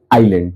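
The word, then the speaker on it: island: कि Sri Lanka dot डॉट आइलैंड। तो यहां आई का उच्चारण जो है अ है आई है। इसलिए यहां दी नहीं होगा। नो आर्ट नहीं होगा। तो श्रीलंका इज क्या होगा? अ का उच्चारण है।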